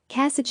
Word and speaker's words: Kasich: 1974 religion Christian other facts last name is pronounced Kasich kasitch his parents were killed by a drunk driver